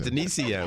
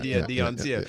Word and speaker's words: Denicio: My name is Denicio, but he likes it Dioncio.